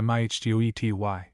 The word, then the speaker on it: mitote: Your whole mind is a fog which the Toltecs called a mitote, pronounced mihtety.